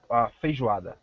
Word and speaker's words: Feijoada: Feijoada. How do you spell it?